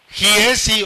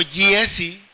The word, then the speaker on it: Giezi: el mensaje se llama Jiesi o Yesi, ¿verdad? como a veces se pronuncia la gom y jesi o yesi, como usted quiera decirlo, que era Jesi o Yesi era el siervo de Eliseo.